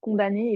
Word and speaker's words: condamné: Mais du coup, comme je te disais, il se prononce condamné et pas condamné.